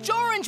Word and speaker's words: Jorange: The Jorange was first, and it rhymes with orange!